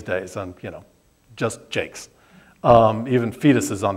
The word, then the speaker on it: Jacques: of story it's me my last name is pronounced Jakes and I just years ago and I just had been reduced to just Jakes um and even you